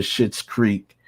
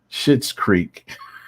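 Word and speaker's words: Schitt's Creek: in a long time shit's creek it's just i just thought that's so it obviously is spelled s-c-h-i-t-t but i mean it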